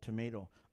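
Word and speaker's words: tomatl: If you want to know how to pronounce that TL, a Nahuatl professor friend of mine said, do this. Stick the tip of your tongue behind your top teeth and leave it there.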